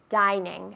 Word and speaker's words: dining: Dining, no. Dining. Es una I fuerte.